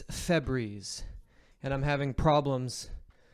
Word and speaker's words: Febreze: Just change your name to Fabreze. One. Fabreze. Um, it's Febreze.